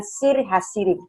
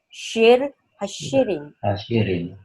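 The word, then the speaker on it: שיר השירים: Jadi bukan Sir Hasirim. Jadi bacanya harus pakai syah, ya. Shir Hashirim.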